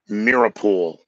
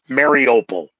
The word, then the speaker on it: Mariupol: a chemical substance in Mirapool. I know I spell it wrong, I say it wrong. Mariupol, all right?